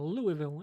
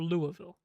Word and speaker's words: Louisville: So looking at this, Georgia 1, Ohio State 2, Michigan 3, Florida State, Washington, Oregon, Texas, Alabama, Missouri, and Louisville in the top 10. Or Louisville.